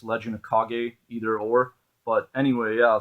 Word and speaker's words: Legend of Kage: and Legend of Kage, I believe it's pronounced. I used to always call it Legend of Cage, or I guess it's Legend of Kage, either or.